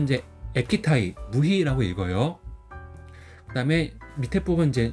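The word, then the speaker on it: 液体ムヒ: 그래서 발음은 이제 에키타이 무희라고 읽어요.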